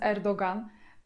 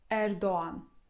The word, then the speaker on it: Erdoğan: Bo często też słyszę, jak z błędem dziennikarze to nazwisko wymawiają, mówiąc Erdogan. Absolutnie jest to błąd, bo jak widzicie, miękkie G w tym słowie jest w otoczeniu samogłosek O i A. I właśnie to O stoi przed miękkim G, więc to O wydłużamy, a tego miękkiego G nie czytamy. I wychodzi nam Erdoğan. Erdoğan. O wydłużamy.